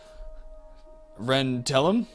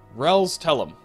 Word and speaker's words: Rels Tellum: Ren Tellum? Rels Tellum. Yes, that's the pronunciation I was going for.